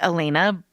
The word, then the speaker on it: Elena: Elena is spelled like Elena, but pronounced like Elena.